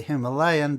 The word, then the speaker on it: Himalayan: light railways, the Darjeeling Himalayan Railway. And by the way, that is the pronunciation. We say Himalayan, but the locals call it Himalayan.